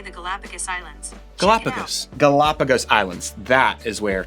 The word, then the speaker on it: Galapagos: Galapagos.